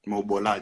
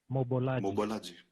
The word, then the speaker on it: Mobolaji: I don't get his name wrong, because, you know, Mobolaji. fashion people, Mobolaji.